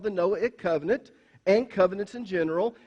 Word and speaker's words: Noahic: Just say the word Noah, Noah, and then add the suffix ik to it.